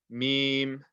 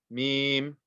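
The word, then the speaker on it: ميم: Now this one is meme, meme, meme. Okay, the dry part of the lips. Okay, meme.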